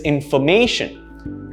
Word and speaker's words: information: some examples information information the stress isn't me not in so it's not information it's information right the main is where